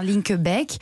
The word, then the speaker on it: Linkebeek: Je prononce bien Linkebeek.